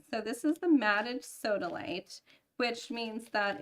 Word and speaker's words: sodalite: How do you pronounce that? Sodalite. Sodalite.